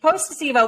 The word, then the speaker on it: Posto: I think is an Emmy award you got three out of four syllables. Close enough. Okay. Almost. Post Posto.